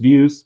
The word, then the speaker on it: Veews: app on Hive called Veews, Veews, as far as I know. Is that how you pronounce it, Blaine? Yeah, it's just views. We just spell it differently because we're weird like that.